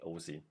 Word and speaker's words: OSI: infosec that this is a very like German thing that we say ozee um for all those yeah they say they spell it out it's OSI for them